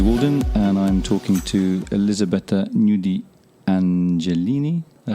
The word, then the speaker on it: Elisabetta Gnudi Angelini: Hello, my name is Waldin and I'm talking to Elisabetta Gnudi Angelini.